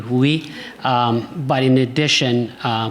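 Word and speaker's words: WUI: and being in the if I pronounce it correctly, Woohoo. Uh Wooi. Wooi. Thank you. Wooi.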